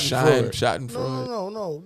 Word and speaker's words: Schadenfreude: You got to spell it like shot in Freud.